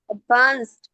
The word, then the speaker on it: advanced: advance, advance, advance, হুম advanced, advanced, advanced, এর advanced, শেষে ট উচ্চারণ হয় না অনিশা আপু অ্যাডভান্সড হুম